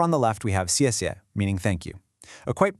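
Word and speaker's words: 谢谢: Over on the left, we have casia, meaning thank you. A quite pro tip for pronunciation here, that X and pinion sounds a bit like a soft sha in English.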